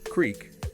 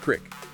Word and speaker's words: creek: The examples given were pairs like creek sometimes pronounced as creek coyote with two syllables versus coyote with three route rhyming without versus root rhyming with boot.